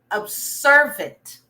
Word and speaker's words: observant: And the word of the week, it's the word observant. Read it with me or repeat it. Observant. Observant. So we don't say observant, we say observant.